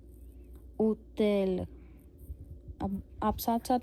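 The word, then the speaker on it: hôtel: है ओ के ऊपर फिर हम इसको एच को नहीं फिर से करेंगे प्रोनाउंस तो ये क्या रह जाएगा उतेल उतेल अब आप साथ-साथ में बोल के जरूर देखना।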